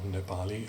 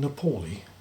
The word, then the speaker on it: Nepali: Now, note those pronunciations. Don't you mean Nepali? People sometimes say. Don't you mean Himalayan? No, I reply, it's Nepal, not Nepal, and Himalayan, not Himalayan.